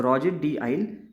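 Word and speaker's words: Rouget de Lisle: भी आप इसको बोलेंगे, आइल होगा ये ना, आइल होता है, एस साइलेंट रहता है इसमें, तो रॉजर डी आइल, तो इन्होंने एक पोएम लिखी थी मर्सिलीजे, है ना।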